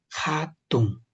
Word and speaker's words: hatun: Esto suena como si fuera J, hatun, hatun.